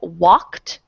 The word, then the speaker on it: walked: Instead of walked, that's 1 syllable. Walked. I walked to the park. You're saying I walked to the park. So you're not just changing the sound, you're changing the syllable. That's 2 things.